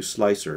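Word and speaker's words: Slic3r: And for that, I'm going to show you Slicer, and that's spelt with a 3. So it's S-L-I-C-3-R.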